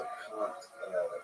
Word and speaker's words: Kant: So Kant, if you ever wanna know, It sounds like cunt, but it's not cunt. but it's not, yeah. It's spelled like can't, but he sure does.